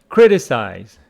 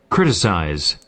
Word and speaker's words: criticize: know the meaning but criticize with a stress on the first syllable in American English criticize and in British criticize so no difference criticize opposite of that